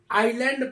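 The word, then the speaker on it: island: ऐसे ही आई एस एल ए एन डी आइलैंड पढ़ते हैं इसको एस यहां भी क्या होता है साइलेंट होता है ऐसे ही देखते हैं ए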